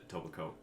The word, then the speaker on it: Etobicoke: We But- were like a Tobacoke. I think it was like a Tobacoke. Yeah. Which is a really weird municipality name to say. Tobacoke.